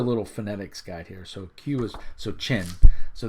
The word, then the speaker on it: Qin: So Qin. So this is technically, I guess, pronounced Qin, the Warring States.